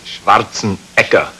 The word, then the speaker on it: Schwarzenegger: It is Schwarzenegger. Schwarzenegger. Actually, in Austria, they pronounce it Schwarzenegger. Schwarzenegger. Yeah, so just to confuse you a little bit.